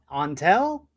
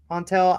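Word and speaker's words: Antal: Um anyway, it said to put the emphasis on on an so onel.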